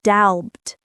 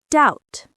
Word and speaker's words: doubt: The B in doubt is also silent. We don't say doubbed. We just say doubt.